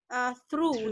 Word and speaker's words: through: Jadi ini cuma bacanya cuma through, udah itu doang.